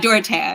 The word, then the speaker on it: Dorothea: I'm very curious about Dorothea. Is that how you say it? Dorothea, yeah.